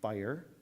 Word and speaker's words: FHIR: information from hl7 uh it it is um fire it's not version four um but some people